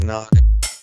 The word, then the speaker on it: knock: silent knock sounds like knock because the k is silent doubt sounds like doubt